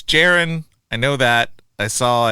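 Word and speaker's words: Jeroen: Uh Jayron Krabby. Krabby Krabby. I don't think you pronounce any of that correctly. I do know it's Jiren.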